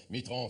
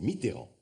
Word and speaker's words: Mitterrand: Mitran, c'est le diable. S'il vous plaît messieurs, je vous prie de prononcer son nom correctement. C'est Mitteran.